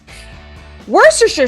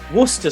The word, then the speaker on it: Worcestershire: I hope I pronounced this word right. Worcestershire sauce was invented here.